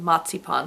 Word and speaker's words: marzipan: where they put um Mars Pan in the center or growing up I called it msip pan because that's the German pronunciation and to me it still sounds weird to say marzipan but anyway but the